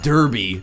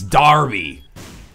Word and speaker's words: Derby: for oh yeah arba it's not Derby even though it's spelled der it's Darby anyway I've probably offended enough